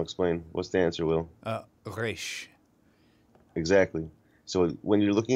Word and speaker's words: resh: Oh, I was going to say, the way you phonetically pronounce this letter is not like in Spanish with the R, with the tip of your tongue, but it's from the back of your throat, like you're gargling water. Or like a gargling scope in the bathroom.